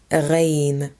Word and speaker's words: غين: Letter غين, غين. This is the same letter as the French R sound.